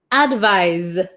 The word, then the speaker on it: advise: or recommend it's a verb one more time pronunciation advice advise okay okay so we'll do really quick number